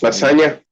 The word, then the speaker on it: lasagna: Yes, lasagna.